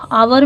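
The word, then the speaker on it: hour: आपको जानना होगा कि एच आवर में एच हमेशा साइलेंट रहता है एच यहां पे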